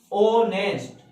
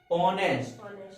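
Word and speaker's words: honest: ये क्या लिखा, ऑनेस्ट, तो आई से स्टार्ट हो रहा, ऑनेस्ट, ऑनेस्ट, क्या लगाएंगे, एन।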